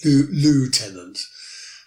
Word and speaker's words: lieutenant: And lieutenant is the way that we say in English, lieutenant. But it's spelled lieutenant, I-L-I-E-U-T-E-N-A-N-T. Eutenant.